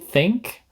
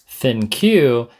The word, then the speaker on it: ThinQ: Now, as far as battery durability, my award would go to the LG V60 Think, or how I used to pronounce it, the LG V60 ThinQ.